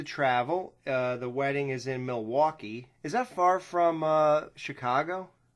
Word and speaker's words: Milwaukee: And it's actually pronounced Milwaukee, which is Algonquin for the good land.